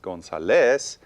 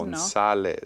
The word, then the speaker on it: González: Okay, so again, according to the rule, it should be pronounced González, but González, it's no. González.